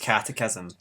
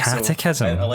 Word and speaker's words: catechism: Firstly, it's pronounced catechism, but also catechism. It does not look like that.